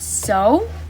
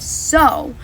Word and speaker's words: sow: For the word sow, there are two pronunciations. One sounds like the word sow, and it means to plant, which is the accurate definition in the context of the sentences. There is, however, another meaning of sow, which is a female pig, and it rhymes with a cow.